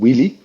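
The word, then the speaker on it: Wylly: is hugely successful it's in France it's called wheelie which is really that's how it's pronounced in French uh it's weirdly spelled for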